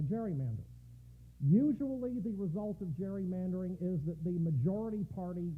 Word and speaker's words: gerrymandering: come to be called gerrymandering pronounced with a soft g so when gary was